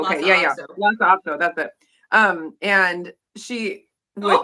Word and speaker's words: Lhasa Apso: Lhasa Apso, that's it.